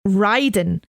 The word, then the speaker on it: Raiden: They've not even pronounced it right. We talked about that earlier. Should be pronounced Raiden.